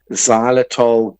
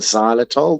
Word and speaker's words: xylitol: Uh, one of my personal favorites is a sugarfree xylitol gum. So, I I like Orbit Professional. It comes in a little tub, a little jar, or any sugar-free gum, but especially if it's got xylitol.